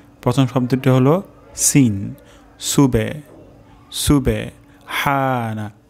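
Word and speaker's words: سُبْحَانَ: তাহলে রুকু তাসবিহ হলো সুবহানা রব্বিয়াল আজিম প্রথম শব্দটি হলো সুবে সুবে সুবে প্রথম শব্দটি হলো সিন সুবে সুবে হানা হা উচ্চারণ হবে গলার মাঝখান থেকে সুবহানা তারপর শব্দটি হলো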